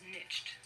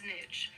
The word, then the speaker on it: niche: French word nishe and the letter i in French would be pronounced like the a long e as we would say